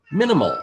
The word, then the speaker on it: MNML: can and get a copy of Minimal. That's spelled MNML.